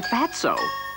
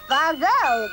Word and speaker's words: Fatso: And tomorrow we'll figure out how to keep him away from Fatso. That's Fazo, the tea is silent.